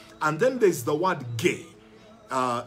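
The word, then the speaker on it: γῆ: then there's the word gay uh it's g e but it's pronounced gay g-h-a-y gay when you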